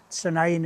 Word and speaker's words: Sandend: In the first part of the video, as I say, it'll be Sandend, spelt Sandend, but Sandend is the local pronunciation.